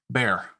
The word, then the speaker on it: Béxar: The Revolutionary Army settled into what would become known as the Siege of Béxar, or as the Anglos in the country had begun to pronounce it, Bear.